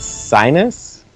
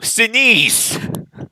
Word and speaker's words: Sinise: Is it Sinus? No! Sinise! Sinise, okay.